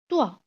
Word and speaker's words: toi: OI pronounced like the combination of OA or WAH or WA. So different people use it differently, but the pronunciation is like wa. So let's take some example. Toi, roi, le poisson.